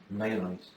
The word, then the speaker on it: Nijenhuis: Nijenhuis.